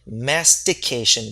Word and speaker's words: mastication: Now, be very careful with the pronunciation of this word, okay? Mastication. Repeat after me, mastication with a T.